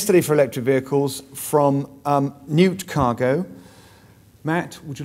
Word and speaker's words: Gnewt: for pronouncing it correctly everyone always pronounces it incorrectly good news or g-nute or I keep finding myself saying no no it's Newt no Newt okay just say